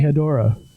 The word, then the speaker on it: Hedorah: it hedorah or a hedorah or what's the pronunciation of the smog monster should be hedorah okay just so i i you know if